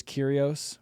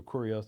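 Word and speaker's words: κύριος: Um, did they ever I I think the Greek word is curios which is lord. Curios or curios depending on your Greek dialect.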